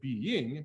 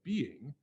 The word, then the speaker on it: being: It'd be very easy for us to go being, because the note goes up, but it's a de-emphasized syllable. You wouldn't say being, you would say being.